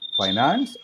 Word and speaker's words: finance: Finance or finance? How do you pronounce? Finance. Both are correct. You can say finance. You can say finance. It is finance is British and finance is American.